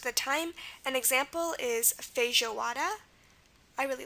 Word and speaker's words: feijoada: Now, notice this isn't just like a normal J sound. It's not J. It's J. It's like the ZH, like garage. So feijoada, not feijoada. So again, whenever you hear the j sound in Portuguese, just spell it with the J and you'll be fine, as in feijoada.